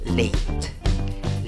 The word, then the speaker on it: late: En la escritura va una A, en la pronunciación no va una A. Bueno, el símbolo, según el diccionario Merriam-Webster, es la A con su sombrerito. Pero ¿cómo pronuncias la A con el sombrerito? Ey, ey. La E final no la pronuncias.